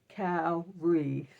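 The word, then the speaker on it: cowrie: to make a cow it's hard to pronounce it but it's c o w r i e cowry so CU I want to say it another way but you got to say it the way it's spelled well you got to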